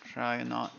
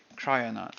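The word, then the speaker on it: Kryonaut: a cry on out I think it's pronounced try or not let me see try or not yeah the thermal Grizzly crioner which is it supposedly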